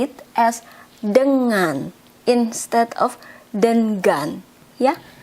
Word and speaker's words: dengan: of pronounce it as then gun we pronounce it as um like when you have to say ringing that an and G in the ringing is mm that's why we say it as Denman instead of them gun